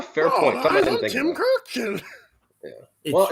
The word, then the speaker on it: Kurkjian: He's always like, for ESPN or at Shea Stadium, I'm Tim Kurkjian. Yeah, he always hardly stops.